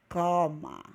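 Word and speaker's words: comma: Olha a vírgula, se fala coma, tá? Não é coma e nem coma, é coma. Coma é como se fala vírgula, escrita como C-O-M-M-A, coma.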